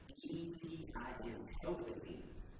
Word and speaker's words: Shofetim: The word Shoftim If you want to spell that out, it's S-H-O-P-H-E-T-I-M, Shofetim.